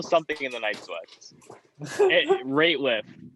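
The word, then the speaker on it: Rateliff: know if it's nathaniel radcliffe in the night switzer it's nathaniel something in the night sweats rate lift not radcliff or rate with yeah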